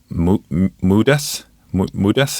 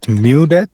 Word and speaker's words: Mudeth: No, so my that I pronounce it Mudith. Uh so it's because I used to be a big fan of Megadeith.